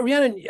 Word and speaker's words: Rhiannon: but today I'm being joined by Rhiannon McAleer Rihanna and I hope I pronounced your name correctly yeah yeah you have